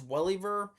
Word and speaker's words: Welliver: Titus Welliver, mispronounced his last name. Titus Welliver.